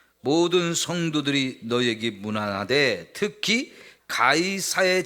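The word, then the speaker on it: Caesar: 성경을 번역하면서 가이사라 번역했는데 영어나 이제 헬라어로 보면 이게에 카이사르 케사르 요런 식으로 발음되는 단어인데요 요거를 우리말로 번역할 때 가사라고 했어요 가이사 그 말 는 로마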